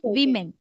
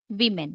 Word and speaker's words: women: women singular is woman woman plural is women women the pronunciation changes women yes okay okay yeah